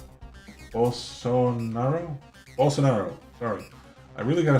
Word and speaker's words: Bolsonaro: before uh referencing paul and kaepernick brazilian president ballen sorrow bolsonaro bolsonaro sorry i really gotta start looking these